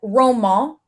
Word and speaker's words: Romain: And then like Roman it's spelled Romaine, like Romaine on Selling Sunset. And they all call him Romaine, but French people pronounce it Roman.